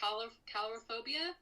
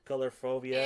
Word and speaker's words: Coulrophobia: Yeah, I was looking into that, the actual phobia, and I hope I'm not butchering it, but I think it's pronounced Coulrophobia. Coulrophobia.